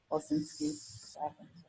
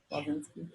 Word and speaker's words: Walczynski: Wolsinski. Pronunciation. Wolsinski.